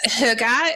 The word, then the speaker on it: hygge: But hygge essentially is getting close, I hope.